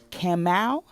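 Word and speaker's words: Kamauu: are actually pinpointing the actual track itself is camel excuse me brother if I'm pronouncing your name wrong but it's k-a-m-a-u-u and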